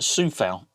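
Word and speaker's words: Coufal: other side as well vladimir kufail pronounced sioux fail it doesn't look like it let's be fair i'm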